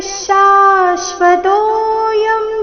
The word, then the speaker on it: ಶಾಶ್ವತೋ: ಭವಿತಾವಾನ ಭೂಯಹ ಅಜೋ ನಿತ್ಯ ಶಾಶ್ವತೋಯಂ ಪುರಾಣೋ ಅಜೋ ನಿತ್ಯ ಶಾಶ್ವತೋಯಂ ನಿತ್ಯ ನೀ ಮೇಲೆ ಆಘಾತ ವಿಸರ್ಗದ ಉಚ್ಚಾರಣೆ ಅರ್ಧಶ ರೀತಿ ನಿತ್ಯ ಶಾಶ್ವತೋ ಶಾಶ್ವತೋ ಶ ದೀರ್ಘ ಬಂದು ಆಘಾತ ತೋ ನಂತರ ಅವಗ್ರಹ ಇದೆ ತೋ ಸ್ವಲ್ಪ ದೀರ್ಘ ಶಾಶ್ವತೋ ಯಂ ಪುರಾಣೋ ಅಜೋ